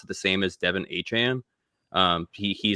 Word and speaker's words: Achane: in the air now, so it's yeah, Trevor Achane is apparently the way he wants people to say his name now.